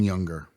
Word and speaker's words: Junger: 2172, Sebastian Junger. Nailed the pronunciation too.